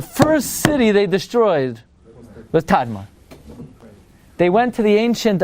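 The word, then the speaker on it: Tadmor: it's it's it's written t m and it's pronounced tadar fine tar that's what it says in now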